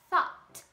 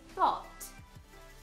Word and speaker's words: thought: Então, o O, ele é muito mais fechado do que no americano, que é thought, boca mais aberta, thought.